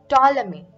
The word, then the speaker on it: Ptolemy: It was expounded by Claudius Ptolemy. Okay, so how you pronounce this is Ptolemy.